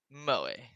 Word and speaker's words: moe: feminine poses it's exceedingly mo moe is that how you say it maui yeah moe that's it natsuki grabs my arm